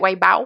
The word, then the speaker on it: Weibo: Mais eux ont une plateforme, en fait, de chat qui est vraiment très, très populaire, qui s'appelle Weibo, Weibo, en fait, ça, je le prononce comme du monde, où, ben, justement, tu